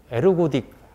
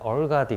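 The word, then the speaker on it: ergodic: 라는 것을 물어 봤어요 에르고 d 라고 전화를 하고 제 배웠을 때는 그 교수님들이 한국 교수님들 에르고 d 그렇게 표를 했고 미국 거니까 뭐 발음 하게 되었는데 얼 가디 그렇게 발음을 하고 일가 및 맺는 프로세스는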